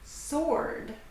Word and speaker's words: sword: Silent W, words that have a W in them that are not pronounced. Answer. Answer the question. Sword.